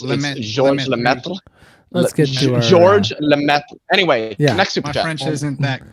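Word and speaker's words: Georges: but his name is it's French it's like George Saint Pierre you don't pronounce the S I mean George anyway yeah French isn't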